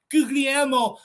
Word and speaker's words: Guglielmo: So we start with Guglielmo Vicario, but I have been told that second G is silent, so it's more like Guglielmo Vicario.